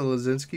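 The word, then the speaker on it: Laczynski: The only reason I can pronounce it Lozinski is because my friend's last name is Walozinski. So I just take the W out of there, and it's Lozinski.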